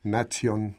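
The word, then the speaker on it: natio: su lugar de nacimiento en latín nación se escribe nación con t y se pronuncia Exactamente igual nación con acción que es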